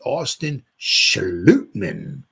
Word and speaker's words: Schlotman: I think it could, I heard a lot of people say Schlotman, but I heard one guy who covers the Vikings said it's a Danish pronunciation. He said it's Austin Schlotman, Aaron Stinney, and Matt Nelson.